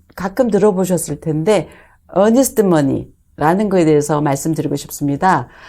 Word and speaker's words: earnest: 어퍼를 넣을 때 계약금조로 어니스트 머니를 건다라고 표현을 합니다 근데 그 어니스트먼트라고 할 때 많은 분들이 그 발음 때문에 정직한 어니스트 honest로 생각하는 경우가 있는데요 그 스펠링이 earnest arnest mony입니다 일종의 보증금인 거죠 내가이